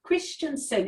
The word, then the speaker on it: Kristjansson: today i want to introduce you to clarissa christensen is that the right way to pronounce it is yeah i got it right